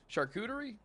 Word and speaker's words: charcuterie: see it in chat chartuteri charcuterie charcuterie yeah that's how you say it kyle doesn't have